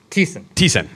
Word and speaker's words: Thiessen: Thiessen. Okay. My name is. You drink, sin like you confess.